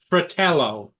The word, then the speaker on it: Fratello: you're talking Hey sorry about the mispronunciation of your last name it's Fratello yeah hey Uncle Bill